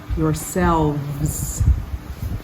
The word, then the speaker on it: yourselves: 43 yourselves yourselves the v e s and the N is voiced cells and it makes the S into kind of a z sound and the emphasis is on selves yourselves verse 45 wrote pretend